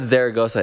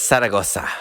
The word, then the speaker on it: Zaragoza: It's like It's not Zaragoza, it's Zaragoza. Zaragoza, Right? Yeah. güey. Say it right.